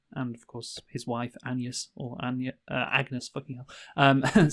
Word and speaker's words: Agnes: Uh who who by the way in our Hamnet review we pronounced it as Agnes when uh in the movie it's pronounced Anus, of course.